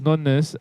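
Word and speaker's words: nonna: What do you say it like nunnas? Because that's how you say it in Italian, mate.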